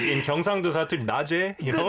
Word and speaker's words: Naje: Next up, it's not Naze. It's Naje. Naje, yeah.